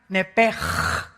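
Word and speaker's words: נפש: Esa palabra alma es la palabra hebrea nepesh, así como suena N-E-P-E-S-H, nepesh. La palabra, la letra o las letras SH en el hebreo se pronuncian en hebreo como J. Entonces se pronuncia nepej.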